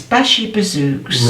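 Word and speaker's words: bashi-bazouks: him to rants shocking how do you say We spelled the Bazi books oh Bashi bazook it's b a sh i b a zou k s bashy bazook right got it and so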